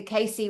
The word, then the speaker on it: Cayce: And Cayce is spelt with a C, guys.